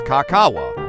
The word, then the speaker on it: kakaw: known as techymates and it is originally pronounced as kakawa which is the vocabulary